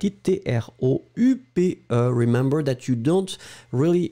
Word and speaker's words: dont: Remember that you don't really pronounce the E, the final E, that strong.